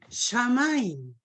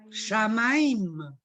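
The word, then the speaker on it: שמים: Shamaim. Podemos escribirlo. No, no podemos porque no tenemos tiza. Bueno, S-H-A-M-A-I-M. Shamaim.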